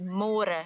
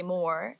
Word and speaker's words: môre: It's a little bit easier, but you have to remember to read môre, because in English it's spelled like more. So don't say more, say môre. And the older generations of Afrikaans people, they might say it a little bit differently, and they sometimes say môre, but it's more commonly used as môre.